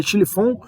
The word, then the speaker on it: Schlieffen: O Império Alemão, além disso, para cumprir com esse plano, que é o plano Schlieffen, né? Se escreve Schlieffen, mas se lê Schlieffen, para cumprir com o plano Schlieffen, a Alemanha invadiu a Bélgica para poder invadir a França.